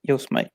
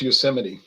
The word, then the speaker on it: Yosemite: yo smite Yosemite Road brewery no it says yes mate yeah but it's pronounced Yosemite okay then say it's a Pinot Grigio wine